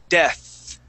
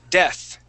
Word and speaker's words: death: So we say the word death, and our tongue goes between our teeth. Try that. Death. Yeah, death.